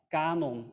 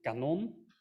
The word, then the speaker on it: kanon: languages like Dutch, where you have words like kanon and kanon, where the first refers to a canon of historical items, I think, and kanon is cannon, a piece of artillery.